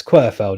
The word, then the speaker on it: Querfeld: It's qu how do you say that? Quirfield. Querfeld. Querfeld. I better say that. It's Quirfeld. It isn't what I said before.